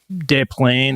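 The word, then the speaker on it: Des Plaines: I think I've been mispronouncing it. De Plane or or something. Uh how French have you? I know. Very French.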